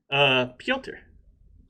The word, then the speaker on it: Piotr: Piotr. It's Peter, but Russian.